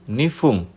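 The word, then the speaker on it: 二分: Misalnya 1 menit itu ipung, jadi bunyinya pung di belakang dan 2 menit itu nifung. Fung bunyi belakangnya itu fung.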